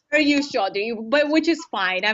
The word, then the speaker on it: Chaudhary: not correct me if I was pronouncing your name wrong. So I, It's very you, Chaudhary, but which is fine.